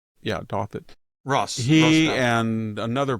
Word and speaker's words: Douthat: Is that how you pronounce it? I say Douthat. Yeah, Douthat.